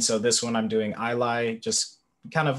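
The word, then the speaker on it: Ilay: their name michael uh i lie um so it's uh i-l-a-y um kind of taking inspiration uh it's not pronounced the same but the letters are kind of close or similar um we the name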